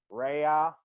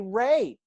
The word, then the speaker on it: Rea: there's three letters in my name how difficult is it to say ray right you know yeah